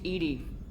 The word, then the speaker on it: EDI: airline is a jar why are you named Ed Ed is the phonetic pronunciation of e that is an acronym for